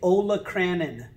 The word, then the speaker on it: olecranon: of the ulna is called the olecranon or some people say olacranon that is the tip